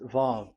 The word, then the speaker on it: Vav: Vav. So it's V as in Vogue.